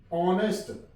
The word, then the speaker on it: honest: HONEST, ऑनेस्ट, H silent है। O से शुरू करेंगे इसका साउंड, ऑनेस्ट।